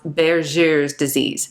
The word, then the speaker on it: Buerger's disease: First up, we have Berger's disease, and it looks like Berger's disease, but apparently it's pronounced Berger's disease.